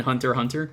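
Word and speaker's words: Hunter × Hunter: the x is silent in hunter hunter it is bonus [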